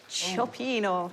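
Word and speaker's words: cioppino: I can't pronounce it again, so what's it pronounced again? Chopino.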